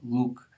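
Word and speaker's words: луг: Any voiced stop, not just a g, will be voiced if it's in the onset position, gol, but it will become voiceless in the coda position, luk.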